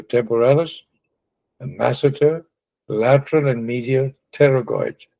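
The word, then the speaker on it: pterygoids: massitor lateral and media terragoids. The P is not pronounced terragoids. So I said be able to identify the locations. There's the temporalus and the massive. See these are the terragoids to be able to move our jaw.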